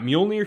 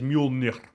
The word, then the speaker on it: Mjolnir: But I got Mjolnir here.